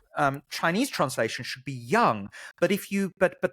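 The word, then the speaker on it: 阳: that it should be young um but whatever you know potatoes potatoes here we go can you hear that yeah young yeah it's it's second tone young young young yes it's not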